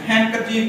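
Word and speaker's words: handkerchief: तो इसमें हमने डी साइलेंट रखना है, हैंडकरचीफ पढ़ना है, डी नहीं पढ़ना।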